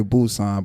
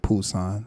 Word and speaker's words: Busan: People say Busousan, but they pronounce it Busan.